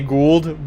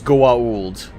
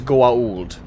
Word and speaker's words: Goa'uld: Well, it's the human characters in the series say Gould, but the actual pronunciation is Goa'uld. And if you don't believe me, listen to how Teal'c says it. Teal'c always says Goa'uld. Gould is just the intentional mispronunciation that our favorite human characters say.